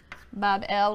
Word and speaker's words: Babel: magnificent Shrine or temple in Babylon pronounced Babel which simply means Gateway of the